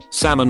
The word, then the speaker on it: salmon: Salmon. I lived in Washington for a long time and my friend always says it with the L.